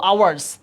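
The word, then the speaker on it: hour: এবার আসো আওয়ার, আওয়ার, এন আওয়ার, 2 আওয়ার্স, তাহলে আওয়ারের মধ্যে এইচের উচ্চারণ কি আছে? নাই, তাহলে কি হবে? এন আওয়ার।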